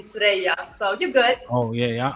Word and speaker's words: Suerraya: That's the American way, yes, Suerraya. Okay. But the real traditional way would be Suerraya.